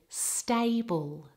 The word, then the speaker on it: stable: included the word stable because I often hear people mispronounce the a vowel that is a double vowel a a so check it now in the word stable stable now in the next